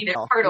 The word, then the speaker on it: Haertl: Haertl. Haertl.